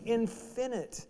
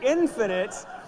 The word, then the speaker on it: infinite: that is what creates infinite. Infinite? I got my emphasis on the wrong syllable. The infinite expression of God's wonderful self.